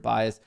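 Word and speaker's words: bajs: Strangely, sounds exactly like the Swedish word bias, which means poop. I'm very mature and giggle inside when you say strong bias, my mental bias. Bias. Well, hey, now we all learned a little bit of the Swedish language. We all now know how to say poop in Swedish, bias. But it's pronounced B-A-J-S.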